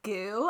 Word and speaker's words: GU: want product placement i think we should consider goo i don't know if you would know what